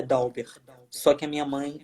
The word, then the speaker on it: Dalbert: dalva é como eu pronúncia do seu nome é dalbert da uber o correto é da uber só que a minha